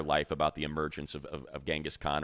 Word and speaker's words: Genghis Khan: about the emergence of Genghis Khan, or as he calls him, because he says it is the correct pronunciation, Genghis Khan, which I never knew,